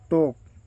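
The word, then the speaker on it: talk: watch दिखाना लिस्टन या listen सुनना टॉक एल साइलेंट है टॉक या टेल्क भी कहा जाता है बात करना टीच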